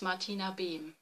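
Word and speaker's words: Martina Behm: by Martina beam so if someone likes to know how you pronounce a name I will say it more slowly I've seen a few podcasts and people were wondering how it's pronounced I know there's a podcast with her she's tell see she's telling her name herself but she try tries to sound English so her name is Martina beam yeah anyway so but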